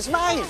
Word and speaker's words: Smythe: Carrington Smythe. Pronounced Smith.